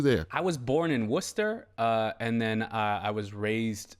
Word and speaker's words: Worcester: I was born in Worcester, and then I was raised for a while in Boston. I still can't pronounce that word.